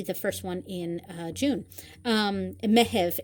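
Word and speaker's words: Meitheamh: Mehev is how you say June in Irish. I know it kind of sounds like May, but it's Mehev, and that is for June.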